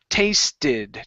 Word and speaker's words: tasted: So what you're doing is you're pronouncing a T, saying taste it. Like taste it, okay? The separate word it. Instead of it, you want to say id with a D sound.